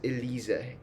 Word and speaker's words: Elise: a little proof because this e-l-i-s-e is pronounced as Elisa in German so the three tones